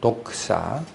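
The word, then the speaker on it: δόξα: 지나 그것은 영광입니다 0과 이 영광 이라는 단어는 펠라 으로는 복사 이렇게 발음이 됩니다 도크 싸 그리고 그 영광을 찬양하고 거나 하는 글 기도 또는 찬양 송 노래 이런 것들을 그 독사 라는 영광 이라는 단어에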